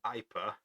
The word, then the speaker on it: Ipa: So the first we're going to do is the Ipa. It's spelled AYPA.